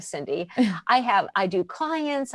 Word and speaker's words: Cyndi: easy to remember except my name is spelled weird c y n d i so just look for the weird spelling of Cindy I have I do